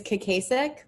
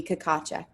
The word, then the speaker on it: Kakacek: it actually sure so there are actually two pronunciations the American version is cesic but in the Czech Republic it would be kakach right I I thought